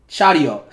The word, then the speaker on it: Charyeok: CHARYEOK. That's the pronunciation that I heard.